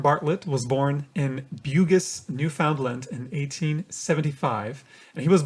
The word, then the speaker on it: Newfoundland: I'm going to look it up because I think new found land is pronounced differently. Yeah. So, well, yes, correct me, please. The new is the uh is the uh emphasis. So, it's Newfoundland.